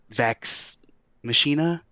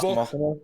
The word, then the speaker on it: Vox Machina: I have heard nothing but good things about you and your Vax Machina. How do you say it? Vox Vox- Machina? Vox Machina. Yeah.